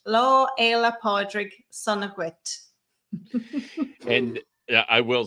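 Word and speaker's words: Lá Fhéile Pádraig sona dhuit: the curve next year you can say law ella podrick sonowitz that is how you say happy saint patrick's day in irish law ela podrick sonogwit and i will say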